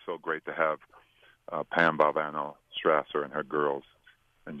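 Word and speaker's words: Valvano: I want to make sure is your name pronounced valano or valano and so of course uh coach we responded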